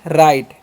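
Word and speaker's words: right: तो यहां पर जी एच साइलेंट होता है। इसीलिए क्या पढ़ते हैं? राइट।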